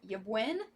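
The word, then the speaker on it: Ybwen: this one out with stranger things tomb of yebuin yeah that's how you pronounce that this is going to be in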